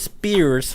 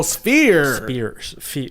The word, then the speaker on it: sphere: Like with an F.